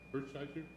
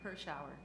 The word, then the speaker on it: Hirschauer: And Hirsch, I gotta figure out how to say her name, Hirschheiser? Anyway, so she's, Hirschauer. pardon me? Hirschauer. Hirschauer? Hirschauer.